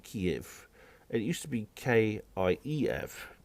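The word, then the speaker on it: Kyiv: It's spelled K-Y-E-V. It's Kiev, not Kiev.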